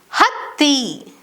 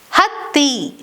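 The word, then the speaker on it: ಹತ್ತಿ: Th is pronounced as a double th sound like in hatti, hatti, which means cotton.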